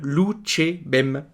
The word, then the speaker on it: louchébem: Le mot peut être légèrement modifié pour une meilleure prononciation. On a ainsi enlevé le R de Loutcherbem, ce qui donne Loutchébem.